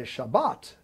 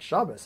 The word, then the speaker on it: Shabbat: I was probably in second grade, and I remember kind of listening to it, and, oh, we're going to say Shabbat, not Shabbos. Everybody repeat Shabbat.